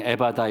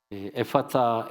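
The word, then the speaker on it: ἐφφαθά: 자, 그러면 이제 열렬라는 단어를 보면은에 이제 한국말에는 아쉬운게 F 발음이라든지 세타 바람이 없다 보니까 그냥 그걸 그냥 에파타 아니 에바다 이렇게 됐지만 원래 이제이 에파타 에파인데 에파를 보면은 헬라어로 적혀 있는데 첫 번 글자가 엡실론이야.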